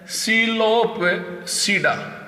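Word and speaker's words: Psilopsida: तो यहाँ पर आपका पी साइलेंट है, सिलोपसीडा, सारे के सारे सीडा के नाम से इंडिकेट है।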